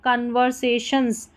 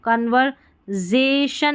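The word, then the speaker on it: conversations: कन्वर्सेशंस, देखिए यहाँ पर सेशंस पढ़ना है इसको, कन्वर्जेशन नहीं पढ़ेंगे, से करके ही पढ़ेंगे, तो S का उच्चारण यहाँ पर S का उच्चारण स हुआ है, ठीक है।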